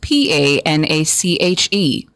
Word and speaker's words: panache: Our word of the day is spelled P A N A C H E spelled P A N A C H E panache. Pache. Panache. Your word of the day is pronounced panache.